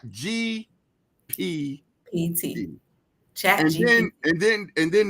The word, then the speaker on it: GPT: So far, there was AI chat GBT, and I'm saying it right, GPT.